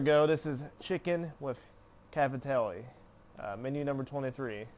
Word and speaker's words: Cavatelli: This is chicken with Cavatelli. Menu number 23. Hopefully I'm saying that right. Cavatelli, I believe is how you say it.